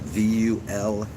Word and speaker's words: Vulfpeck: Uh, look up "Wait for the Moment" by Wolfpack, but you spell it with a V. Wolfpack, not Wolfpack. Wolfpack. Is it Vulfpeck?